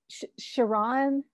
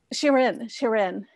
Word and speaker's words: Shirin: Shiran Nashat, is that right? Okay. Shirin, yeah.